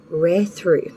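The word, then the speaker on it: Raidho: your advice across watcher is pronounced rare through meaning journey or travel travel is the key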